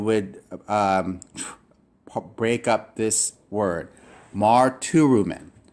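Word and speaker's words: μαρτυροῦμεν: Marturumen. Marturumen.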